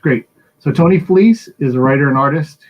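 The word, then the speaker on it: Fleecs: anything you do please however you like but fleece is how it's pronounced at least is how it's pronounced great so tony fleece is a writer and artist who's worked under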